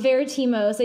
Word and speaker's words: Veritimos: It's Veritimos. I think you said it just about that. The way you pronounce it is so much better than what I hear other people say.